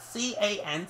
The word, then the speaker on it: Can: If it's pronounced with a H in Germany, that's fine, but he doesn't play in Germany anymore. He plays in England where C-A-N spells can.